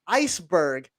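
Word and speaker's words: Iceburgh: penguin from pittsburgh is named iceberg but the berg is spelled like pittsburgh so it's u r g h ice berg oh my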